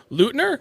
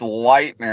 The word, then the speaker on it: Leuthner: if i'm wrong and pronouncing your last name lutner or is it luther it's lightner actually jesus christ i'm way